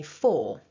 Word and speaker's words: for: and for that reason this word doesn't have a strong r sound at the end for me when i speak um as you'll see